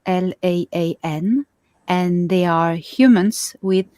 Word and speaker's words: La'an: The 4th race that isn't in the Pleiades but has colonies everywhere, it's La'an, L-A-A-N, and they are humans with feline features.